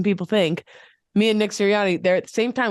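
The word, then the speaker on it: Sirianni: think me and Nick siriani they're at the same time we probably walk past each other all the time when I was online Nick turani which rhymes with Syrian so I'm just saying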